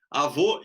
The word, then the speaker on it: avô: Avô e avó. Pra gente é muito claro a engraçado. diferença do som. O avô é o O fechado e a avó é o O aberto.